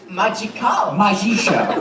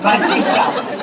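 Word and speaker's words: magisch: Magisha. Magisha. That's how you say it in German.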